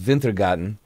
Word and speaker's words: Wintergatan: Something from Wintergatan, which I think is actually pronounced Wintergatan, coming out of Sweden at Wintergatan 2000 on Instagram, if you end up enjoying this.